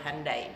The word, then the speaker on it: Hyundai: Indonesia timur konsep begini-begini andai andai bacanya Hyundai Saya tidak cuman Tokai